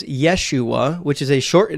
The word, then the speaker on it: Yeshua: yua is a Mis yua is a mispronunciation of the actual name which is Yeshua which is a short